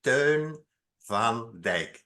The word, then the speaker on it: Teun van Dijk: name is turn van I'm going to pronounce it again in Dutch so that you know how to pronounce it turn Van de I am the founding